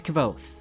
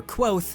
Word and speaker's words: Kvothe: this list next is kvothe or quoth however you care to pronounce it i've made quite